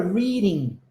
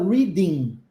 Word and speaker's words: reading: nunca vai falar in esse G No final a gente não pronuncia tá Reading Reading and